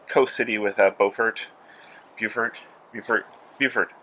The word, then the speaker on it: Beaufort: it is a coast city with at Beaufort Buford Buford Buford Beaufort's North one Beaufort the South one that spelled